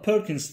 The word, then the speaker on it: Purkinje: Bu hayvanların içerisinde özellikle kanatlarının çırpmasını sağlayan Purkinje diye yazılıyor ama Perkins diye okunuyor.